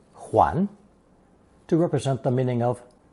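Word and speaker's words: 睘: However, when it loses that red-colored cross at the top, qiong becomes an important phonetic component, pronounced second tone huan, to represent the meaning of turning round full circle.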